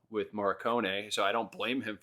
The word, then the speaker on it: Morricone: How do you pronounce his last name? Ennio Morricone.